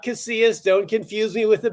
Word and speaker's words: Casillas: Without further ado, let's welcome Casillas to the show.